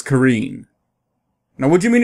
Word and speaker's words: Karin: where you're coming from in regards to Karen what do you mean it's pronounced as Karine now what do you